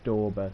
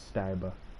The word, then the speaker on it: Stauber: But I think it was on his channel pronounced Stauber, so I'm going to say Stauber. Although I think if he was German, it would be pronounced Stauber.